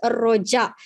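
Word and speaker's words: rojak: Vale, y luego tenemos roja. ¿Cómo se pronuncia esta comida, esta palabra? Roja, se pronuncia roja, no roja, porque J en malayo se pronuncia como en inglés, J, no como en español, J, ¿verdad?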